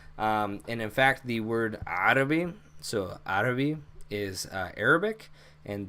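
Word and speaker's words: عربي: actually, or I'm sorry, the A in the beginning is an Ein. So when we say Arabic and we put an A there, it's actually transliterated incorrectly.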